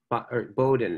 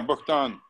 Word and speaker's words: Bogdan: But Bowden. Is that how you say it? Bowden? Yeah, Bogdan.